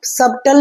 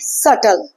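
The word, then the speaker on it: subtle: silent like in word इसको सबटल नहीं पढ़ेंगे नो इसको हम पढ़ेंगे सटल सटल इट्स not debtor it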